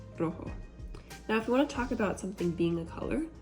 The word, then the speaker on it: rojo: So, red is rojo, and sometimes in Spanish we roll the R's, so it's like rojo, and then our J's are always an H sound, rojo.